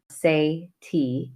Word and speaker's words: Sadie: My name is Sadie, pronounced Say-T, S-A-Y/T.